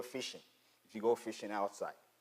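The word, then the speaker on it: phishing: fishing in a way it's spelled with the P starting with a p but it's pronounced as the regular fishing if you go fishing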